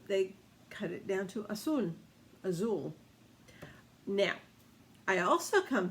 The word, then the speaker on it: Azul: So they cut it down to azul. Azul. Now, I also come to find out that it's not Spanish necessarily, but rather Portuguese, because blue in Portuguese is spelled the same way. It's Azul, Azul.